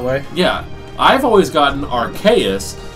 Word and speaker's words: Arceus: I've always gotten Arceus because Arcane Deus, magic god.